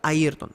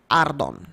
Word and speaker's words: Ayrton: Pero, sí, dus el nombre original tá Ayrton. Pero mi mama te llama mi Ardon. Ok. Dus é silent e Y.